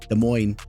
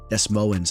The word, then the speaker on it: Des Moines: I do understand it's pronounced De Moine.